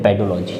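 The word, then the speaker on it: pedology: हम लोग बोलते हैं पेडोलॉजी। क्या बोलते हैं, पीडोलॉजी। पीडोलॉजी या पेडोलॉजी भी जो भी आप को सही लगे प्रोनाउंसिएशन में आप बोल सकते हैं, पीडोलॉजी मोस्टली बोला जाता है।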